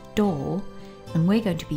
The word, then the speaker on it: 動: It's pronounced door and we're going to be using it in the word meaning automobile.